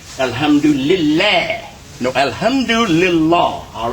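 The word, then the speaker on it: الحمد لله: Alhamdulillahi Rabbil Alameen. Same situation here. We have li before the syllable la, but we don't accept. This is, most people will say Alhamdulillah.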